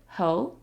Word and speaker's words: 猴: The word for monkey is ho, ho. It's second tone, so it sounds a little inquisitive, ho.